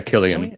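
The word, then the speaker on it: Cillian: Yeah, Killian.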